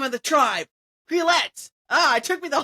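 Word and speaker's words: Quileute: Quillette. That's the name of the tribe. Quillette.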